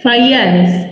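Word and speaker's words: Fajans: Ya, ada titrasi Mohr, Volhard, dan terakhir Fayans. Ya, ini Fayans ya dibacanya karena dia orang Polandia, bukan orang Indonesia. Kalau orang Indonesia dibacanya J, karena dia orang Polandia, J-nya dibacanya Y.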